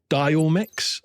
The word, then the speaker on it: Diomyx: It's called Diomix, and that is spelled Diomyx.